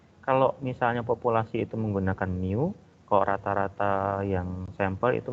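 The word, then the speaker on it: μ: Ada yang namanya dia mu, ya bacanya mu.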